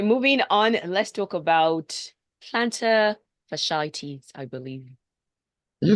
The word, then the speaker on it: plantar fasciitis: Let's talk about plantar fasciitis, I believe.